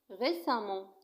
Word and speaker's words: récemment: Récemment نفس الشيء تكتب récemment وتنطق récemment وتعني مؤخرا.